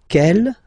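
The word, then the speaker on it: quelle: same way and then the feminine form is written like that q l l but it's pronounced like the masculine form Kell at the masculine Kell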